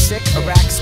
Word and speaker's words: Sycorax: I'll demonstrate phonetically. It's Sycorax.